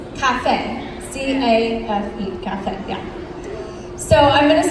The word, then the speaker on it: café: So, and that is spelled, for Portuguese, or in Brazil, it's café. C-A-F-E, café, yeah.